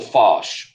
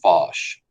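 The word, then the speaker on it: Foch: collaborating with uh is Marshall fosh that's how you pronounce that f-o-c-h Marshall fosh and so fosh will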